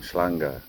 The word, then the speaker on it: Hwange: Hwange, Reed River.